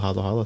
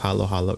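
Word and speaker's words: haluhalo: the proper spelling of Halo Halo is h a l u h a l o one word halo Halo which is kind of how you pronounce it as well Halo Halo it's not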